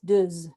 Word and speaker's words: deux: as one must, then it's not deux, it's deux. Deux araignées, trois araignées, 6 araignées, 10 araignées, 8 araignées, because those silent letters are getting sounded because a vowel is following.